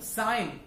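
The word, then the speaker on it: sign: को लाइन में लाना, फॉर एग्जाम्पल साइन, कुछ साइन करना, फॉर एग्जाम्पल बिनाइन, तो ऐसे जो वर्ड होते हैं इसमें जी हमारा साइलेंट रहता है और एन हम पढ़ते हैं.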